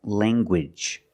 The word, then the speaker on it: language: hard G sound like language language you have the nasal sound Lang and the hard Gage language language I have